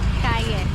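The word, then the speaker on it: cay: Kaye is how you say spicy.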